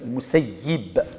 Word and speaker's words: المسيب: يغالد في سعيد بن المسيب ند بكسر الياء المسيب لغة أهل المدينة مسيب فيخرج منه الدم صفي